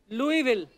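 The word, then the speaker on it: Louisville: आगे तभी बढ़ेंगे लुईस जब लिखा है तो स क्यों नहीं बोल रहे हैं जैसे नाइफ में क साइलेंट होता के साइलेंट होता है। वो तो के पहले आता है। यह तो बीच में घुसा हुआ है।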